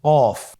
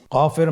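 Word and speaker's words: ك: নম্বর হরফটির নাম কাফ কাফ উচ্চারণের ক্ষেত্রে অবশ্যই পাতলা করে উচ্চারণ করতে হবে এবং তিন আলিফ টেনে পড়তে হবে।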